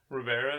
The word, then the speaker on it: Rivera: But yeah, I mean, you can follow me on Instagram at Rivera. Okay. So that's roll the R's as you type it.